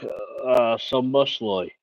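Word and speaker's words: Szoboszlai: It's like Sombosloy.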